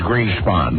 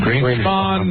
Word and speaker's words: Greenspan: Please, the correct pronunciation is Greenspan. Greek spawn. Green spawn.